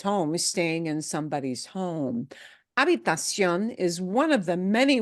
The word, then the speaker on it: habitación: And the other pitfall here may be, again, that there is no shun. Sion. Sion. Okay? Sion. Habitación. Habitación.